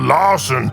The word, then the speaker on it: Larsen: I’m called Larsen cause it rhymes with Arson!